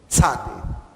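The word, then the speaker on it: צדי: Sade vai sempre ser esse TS aqui. Sa. Ok? Tz. É esse o som. O T e o S junto. Tzade. Ela é... A gente não tem uma palavra em português. Né? Talvez pizza. Pizza seria como os dois Es na pizza. Seria o tzade aqui.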